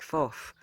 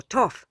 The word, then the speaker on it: Thoth: As many of you know, I do like Thoth, or Toph, or Tahuti, depending on how you want to say his name.